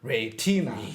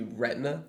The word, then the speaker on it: retina: retina retina but like if somebody was stressing the syllables in English they would say retina so you actually do